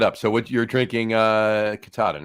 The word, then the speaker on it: Katahdin: Yeah, Katahdin or Katahdin. I don't know how it's pronounced. I say Katahdin. So. I say Katahdin. You say Katahdin. We all say Katahdin. Let's call the whole thing off.